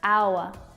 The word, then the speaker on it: hour: This word starts with a consonant letter, but the first sound that you hear when it's pronounced is a vowel sound. Ow, ow, hour, not hour.